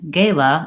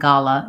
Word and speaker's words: gala: say for this word the primary difference between gala and gala is vowel a is more front ah is more back and let's see what